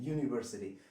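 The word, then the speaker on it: university: हम जो बोलते हैं यूनिवर्सिटी, तो प्रोनाउंसिएशन कैसे होता है, साउंड, पहला साउंड क्या क्रिएट करता है, यू, यू। तो जो फर्स्ट जो साउंड है ना, वाई साउंड क्रिएट होता है, तो वाई क्या होता है, कॉन्सोनेंट होता है।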